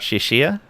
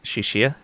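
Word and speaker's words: Xixia: What about Shishia? I think that's right. Shishia, if it's using like the Chinese pronunciation, I think that X's sh I believe.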